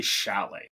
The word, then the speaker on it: Saleh: So I think that we need to see a little bit more from Edward Saleh, or they say Chalet. Apparently it's with the SH is how it's pronounced.